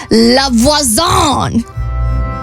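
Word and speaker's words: La Voisin: So she meets this person named Lavoazon. It's the correct pronunciation.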